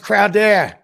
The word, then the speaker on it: Crowder: It's pronounced Crowder.